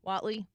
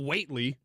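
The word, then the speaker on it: Whatley: the guy yeah Michael Watley Watley I mean it's not weightly why not because that's pronounced Watley okay well I said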